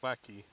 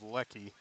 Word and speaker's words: Lecky: Not sure it's Leakey. It sounds like Lecky. Or at least that's how it's spelled, L-E-C-K-E-Y. So I'm going to go with Lecky.